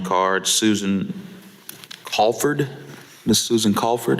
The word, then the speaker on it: Colford: Susan Colford, am I saying it correctly? C-O-L-F-O-R-D. Yes, ma'am.